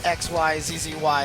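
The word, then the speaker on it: xyzzy: I guess uh David I saw on your Twitter that you had confirmed that it was xyzz y is how you're supposed to say it right you're supposed to say the whole thing out yeah but it's pretty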